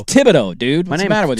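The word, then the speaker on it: Thibodeau: I've had people tell me it's technically thibido. Thibido, but he refuses to do the th sound.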